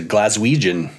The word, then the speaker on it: Glaswegian: We were actually saying recently how Glasgow has one of the great denonyms, a Glaswegian. Is that right? Am I pronouncing that right?